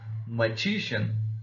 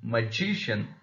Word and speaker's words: magician: to the next one magician magician again g is the second syllable from the last therefore it has received the stress then initial initial finally